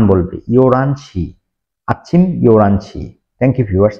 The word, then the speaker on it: 열한: করে নিল ইয়ো রান কোরিয়ানরা কখনোই 11 টাকে ইয়লহান বলবে না ইয়লহান বলবে না ইয়োরান বলবে ইয়োরানশি আছি ইওরানসি থ্যাংক ইউ ভিউয়ার্স আসসালামু আলাইকুম